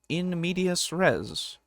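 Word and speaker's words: in medias res: In media rest, you just begin in the middle of the action. Why did you say in media rest? It's in media res, isn't it? That's how you say it.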